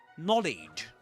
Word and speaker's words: knowledge: Knowledge. Knowledge. That's you can know something but you pronounce that as knowledge. Knowledge. That's in British English. In American English, you would usually say something like knowledge, wouldn't you?